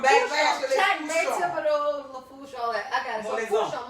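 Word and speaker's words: Fourchon: Am I pronouncing that right? That's right, Fouchon.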